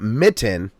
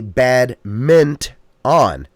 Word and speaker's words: badminton: It is not mitten. It's not a bad mitten. It's a bad mint on. Don't forget the N. Minton.